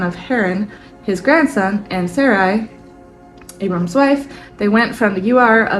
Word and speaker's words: Sarai: I say it s Sarai is that right uh Sarai Sarai Sarai that's right I had to listen to the pronunciation of that name too over again cuz I have a friend that spells it the same and she pronounces it SAR and so I keep